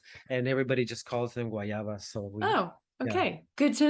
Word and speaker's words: guayaba: I have to ask because you're saying wayava is that guava is that what we all say is the rest of us who don't know Spanish say is guava so guayaba is the right pronunciation for that no they also um